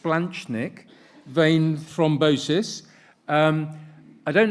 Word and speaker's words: splanchnic: morning splanchnic so thank you CLA it's it's pronounced splanchnic vain thrombosis um I don't know too much